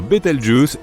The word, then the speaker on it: Bételgeuse: supernova pour le moment quant à la manière de prononcer correctement Bételgeuse tu peux le faire comme bon te semble tu peux même dire beteljuice si tu en as envie la supernova 1987A a